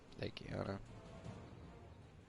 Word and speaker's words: Legiana: How do you say that? Legiana? Legiana. That's exactly how you say it.